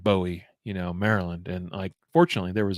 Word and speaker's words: Bowie: I was like, how do you pronounce Bowie? It looks like Bowie, Maryland.